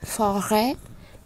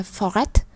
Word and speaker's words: forêt: Tiếp theo chúng ta lại thấy ET ở cuối cùng chúng ta cũng không đọc nó lên. Arrêt, forêt. Như vậy chúng ta không đọc âm T lên, không đọc là arrêt hoặc là forêt.